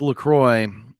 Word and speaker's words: LaCroix: this right here shout out to anybody watching Lacroix is that how you pronounce that it's Lacroix but this is the I have not tried